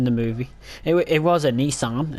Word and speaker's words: Nissan: It was a Nissan, as the Americans say, Nissan, but it was not a Silvia.